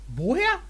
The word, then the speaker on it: woher: Same with the pronunciation here. You don't say, Woher kommst du?